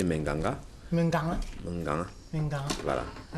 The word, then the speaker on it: Menganga: À Menganga, dans la région de l'Adamawa, et tout à l'heure, Super Obamla nous faisait esquisser une façon de prononcer Menganga.